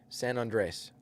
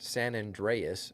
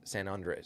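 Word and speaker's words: San Andrés: And another thing, pronunciation, San Andres, not San Andreas. There's no EAS. It's San Andres.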